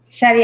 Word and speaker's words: Shetty: Shetty, am I pronouncing it correctly?